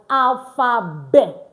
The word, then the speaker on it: alphabet: Letter t and other consonant at the end of a word in French most times is not usually pronounced.